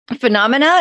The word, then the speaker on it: Phenomena: I thank you for sending me Phenomena.